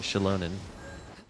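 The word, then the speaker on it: Xilonen: Okay, that's how you say it. Shilonen. Like she's loaning me money.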